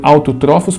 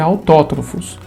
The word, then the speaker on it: autótrofos: Então é autótrofos, tá bom? Eu falei autotrófos para separar, né? Mas a pronúncia certa é autótrofos, que são seres que produzem o seu próprio alimento.